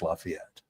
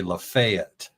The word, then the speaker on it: Lafayette: So locals say Liet. It's two syllables. Lafayette.